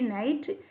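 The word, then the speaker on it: knight: K-N-I-G-H-T, night. Here N-I-G-H-T, night.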